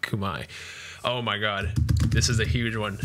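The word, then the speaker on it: Khmer: yep uh next we have the kubai the kymer that's how i used to pronounce it until i learned it's pronounced kumai oh my god this is a huge one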